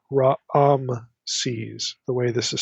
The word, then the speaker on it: Raamses: There's like two A vowels in the pronunciation. It's not Ramses, it's Raamses, the way this is spelled.